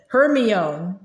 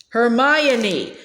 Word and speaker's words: Hermione: He kept calling her Hermione. Hermione, she said slowly and clearly.